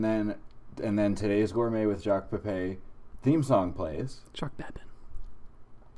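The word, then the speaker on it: Pépin: Pepin.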